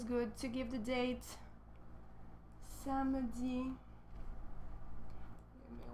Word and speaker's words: samedi: So when you pronounce samedi, we don't really say samedi, right? We kind of squeeze this guy here. Samedi. But when you write, make sure you don't forget the E.